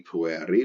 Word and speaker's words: pueri: Because the genitive ends in the letter I, pronounced E, pueri, we know it is a second declension, and it's a second declension masculine.